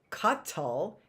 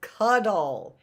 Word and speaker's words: cuddle: or Miss Annette said it's not cut tall it's cuddle it's cuddle cuddle and that has a d not a t it's not Cuttle it's cuddle I want to cuddle